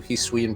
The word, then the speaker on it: Hisui: I watched a video of someone making like commentary on all the new Hisuian Pokemon, and they said the region name wrong every single time, and it made me mad.